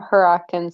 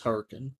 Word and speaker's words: Hurricane: What would somebody from Huracan sound like? Is that how you pronounce it? It's Hurricane.